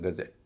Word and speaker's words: gazette: इसके लिए मैं आज ही की क्लास से एक शब्द उठाता हूँ, गजेट, GAZETTE, उच्चारण है गजेट, हमने पता किया।